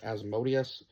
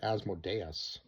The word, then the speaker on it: Asmodeus: And then Ralph Ineson, who voiced now I've heard it pronounced Asmodeus, but in the movie they pronounced it Asmodeus. So I believe like Asmodeus might be like the English pronunciation, and Asmodeus might be more like the Latin pronunciation, because a lot of